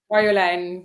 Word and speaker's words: Marjolein: should pronounce your name Maran yes and you pronounce it in the Belgian Way which is actually far better ah okay that's also